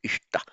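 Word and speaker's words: इष्ट: Because the accentuation is on the final syllable, that has a retrospective effect on the initial syllable, which in Vedic it becomes I. So sacrificed then becomes ishta. I'm putting that acute accent, not because it's long, it's not, it's short, ishta, but to show that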